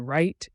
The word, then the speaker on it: write: The W in write is not pronounced in most modern English.